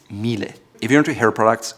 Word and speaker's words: Miele: Not Miele or Miele, it's Miele.